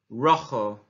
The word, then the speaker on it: rojo: Red, rojo, rojo. So the J is actually a X sound.